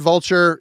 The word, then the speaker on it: Vultyr: But yeah, if you've never heard Vulture, if you like the scathing raw black metal, this is Vultyr.